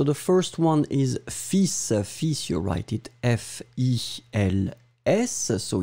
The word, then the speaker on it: fils: Remember to pronounce the final S, which is in fact an exception. I mean, normally we don't pronounce this S, especially we don't pronounce the L in that case. So basically, it's a pretty strange word. You pronounce it fils.